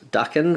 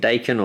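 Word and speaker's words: Daken: I know we've been pronouncing him Dacan or Dhakan. Um but I think it might actually be Duckan. I was sort of trying to do a bit of research. I'm probably butchering the pronunciation anyway, but I think it's supposed to be darken or something like that. Um anyway, let's have a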